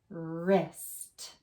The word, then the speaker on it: wrist: So remember, W is silent. Let's go right to the first letter. Ist. Wrist.